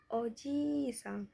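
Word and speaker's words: おじいさん: Di sini yaitu contohnya ada oji jisam g-nya i di sini itu untuk memanjangkan. Jadi dibacanya Oji Jang, I-nya panjang ya.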